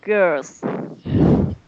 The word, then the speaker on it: girls: a group of girls. Sounds good. So good, say it. A group of girls. Girls. Girls. Girls. Girl, girl, Yeah, be careful to pronounce the L too.